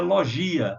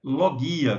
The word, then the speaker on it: logia: a Cuidado aí que muita gente não é pronuncia logia Acessa pra você não existe em grego a pronúncia correta é lo guia Como eu disse anteriormente como quando falávamos de